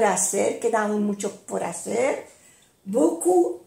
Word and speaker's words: beaucoup: Beaucoup. No se pronuncia la P. Beaucoup.